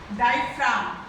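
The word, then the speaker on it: diaphragm: डायफ्राम है ना, इसमें जी साइलेंट होता है।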